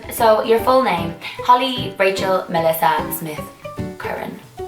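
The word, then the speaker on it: Rachael: But it's spelled R-A-C-H-A-E-L, so like Raquel, but it's Raquel, but it's Rachel.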